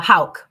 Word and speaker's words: Houk: how do you say your last name uh Hal Hal so I I think you got it